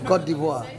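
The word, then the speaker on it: Côte d'Ivoire: And how do you pronounce the name again? Cote d'Ivoire.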